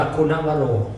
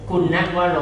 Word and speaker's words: คุณวโร: อาจารย์ จล คุณวโร เมื่อ ได้ กล่า อ่าน ว่า คุณวโร คุณวโร คุณวโร เมื่อ ได้ กราบ และ สนทนา กัน แล้ว